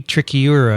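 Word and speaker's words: trichiura: us talk about it trichyura which i spent a long time on that episode pronouncing right practicing right right finally tricky tricky euro that's right tricky tricurus anyway sure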